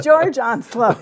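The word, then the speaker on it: Georges Onslow: I'm pronouncing it in the French way. I'm being left in the dust here, so I'm going to move on. Georges Onslaught.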